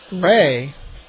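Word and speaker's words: Rhee: Last name Ray, R-H-E-E. I'll get you his numbers in just a little bit. Ray, signed by the Cubs August 15, 2007.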